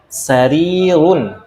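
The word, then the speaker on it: سرير: Hadza sarirun, ini ranjang. Nah, ini juga sama, panjang pendeknya harus dijaga. Hadza sarirun. Sarirun, harinya yang panjang ya.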